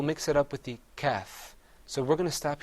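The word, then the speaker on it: كاف: Whereas the kaf, you open your mouth up.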